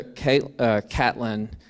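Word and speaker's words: Caitlin: His widow, Catlin, as she pronounced it, C-A-I-T-L-I-N, Catlin, candidly recounted her husband's dying of downfall.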